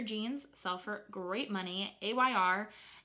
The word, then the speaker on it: Ayr: sell for great money Ayr and maybe you can pronounce it air but I'm pretty sure it's just an acronym as well a yr but 95 is ammo